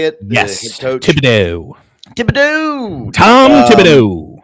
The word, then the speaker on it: Thibodeau: Thibodeau. Tom Thibodeau. Thibodeau.